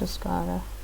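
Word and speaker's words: Euskara: I think it's called Uskara. In its own language, it's called Uskara.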